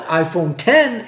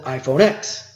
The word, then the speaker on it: iPhone X: Apple introduced iPhone X and they call it iPhone 10 in their commercials but everyone just calls it iPhone X Apple released the core operating system components of